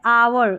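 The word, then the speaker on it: hour: एच देखें, ये जैसे आवर, इसको आवर और ऑनेस्ट पढ़ेंगे, ठीक है, इसको आर या आवर दोनों तरीके से प्रोनाउंस कर सकते हैं,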